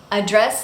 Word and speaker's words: address: word is address address address is a verb here and it has stress on the second syllable address now this is completely